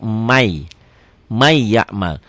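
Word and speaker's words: من يعمل: Ditulisnya man ya'mal, dibacanya di may, jadi double y ya. N-nya hilang.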